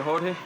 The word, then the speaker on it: Jorge: Heard him saying my name and how you supposed to say it, Jorge.